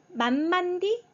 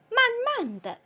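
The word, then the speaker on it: 慢慢地: 네, 성조 없이 가볍게 라고 읽어주는 거죠. 네, 만만디, 만만드, 만만드, 만만드.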